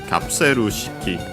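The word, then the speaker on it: カプセル式: Okay, the accent is before shiki itself, so yeah, in this case, kapseru shiki.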